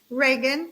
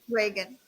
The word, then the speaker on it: Reagan: how do you say your last name Reagan Reagan all right Reagan and um